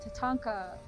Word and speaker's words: tatanka: gathered in genesee park buffalo tatanka that's how you say it in lakota they're wild they're free